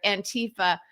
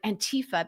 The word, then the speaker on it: Antifa: Uh, but Trump and MAGA like to use the term Antifa because it sounds exotic and scary and and it rhymes with Latifah, you know, we know what he thinks of that.